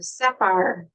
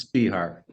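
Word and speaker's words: Spehar: of and share fear or Sapphire did I say your name right you said your name wrong all right s-p-e-h-a-r how do you say your last name it's spear I did say it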